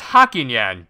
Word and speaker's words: Hakinyan: This guy's name was Hakinyan. Get it? It rhymes with Bakinyan.